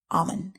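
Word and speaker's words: אָמֵן: Another word for faith in Hebrew is a verb pronounced amen and means to trust, as in the English term faithful.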